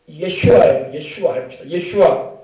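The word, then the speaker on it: ישוע: 오히려 우리는 히브리어로 예수님의 발음은 예슈아예요. 예슈아예요. 원래 본 발음이 예슈아. 근데 우리나라에서는 이제 발음을 못하니까 예수 이렇게 하는 거예요. 영어에서는 이제 제이저스라고 하고.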